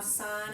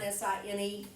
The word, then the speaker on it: sine: really understand why sine s i n e needs an abbreviation when you just chop one letter off but uh the first time we start this every year someone will say sin it's sine so sine cosine tangent